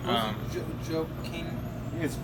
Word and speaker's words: Joaquin: Joaquin. It's spelled Joaquin.